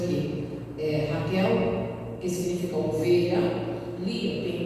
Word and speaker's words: Lia: Lia tem 2 significados. Alguns nomes na Bíblia têm 2 significados. Lia, que significa vaca selvagem, e os judeus, eles pronunciam Leá, que significa cansaço.